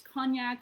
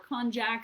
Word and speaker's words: konjac: I recently learned that you can pronounce this as Cognac or Konjac. There is a sneaky little J in there, so there's no right or wrong.